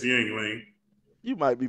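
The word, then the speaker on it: Yuengling: I got a little ying lang beer. I don't think it's called ying. What is What's the real How you pronounce it? Yang. Yang lang. Yang lang. Like lang. I don't know. It's yingling.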